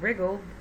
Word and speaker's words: wriggled: Now, we said before that wriggled, the W is silent.